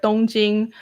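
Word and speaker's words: 東京: know like for example don jing is tokyo in japanese it's tokyo but in chinese the same characters right tongjing and and um kyoto the same kanji character in chinese is jingdu sounds nothing similar but like i get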